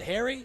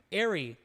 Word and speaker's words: Airy: Harry? Is it Airy? Airy.